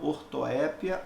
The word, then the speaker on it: ortoépia: mais específico de estudo se chama ortoépia ou ortoepia tanto faz Essa é a fonética